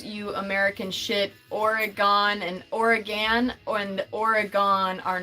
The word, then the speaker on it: Oregon: Oregon, as an Oregonian, the way that you pronounce Oregon, and you cannot tell me that I'm wrong about this, because I'm literally from Oregon. You say it the exact same way as the organs in your body.